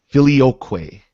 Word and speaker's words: Filioque: how's it pronounced? Filioque.